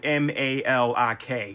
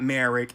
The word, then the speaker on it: Malik: Now, that's actually a mistranslation cuz in Japanese, the L's and the R's, they get confused for some reason. This man's name is Malik. It's spelled m a l i k. It's not Marik, it's Malik.